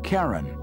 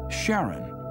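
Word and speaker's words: Charon: Christy suggested the name Karen after the fairyman of Pluto's underworld in Greek mythology, but preferred to pronounce it Sharon, more like his wife's name, Charlene.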